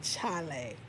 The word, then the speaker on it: Chale: So Chale, which is really coming from the word Charlie, but the Ghanaians say Chale, which is spelled Chale.